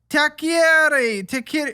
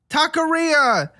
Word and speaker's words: taqueria: Takieri. How do you say it? Taqueria.